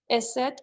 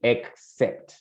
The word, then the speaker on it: except: I finish, except on Fridays when I finish at 8. Exactly. Very good. Careful with the pronunciation of the X, which is like, sounds like KS. Entonces, here it would be except.